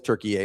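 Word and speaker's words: Türkiye: this is the I everybody told me it's Turkey A now I'm like all right I guess.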